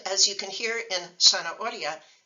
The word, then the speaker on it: zanahoria: And as you can hear in zanahoria, the letter Z is not pronounced like a Z in Spanish. Spanish doesn't have the Z sound. So in Spanish, a written Z is pronounced like an S if you live in Latin America, including the United States.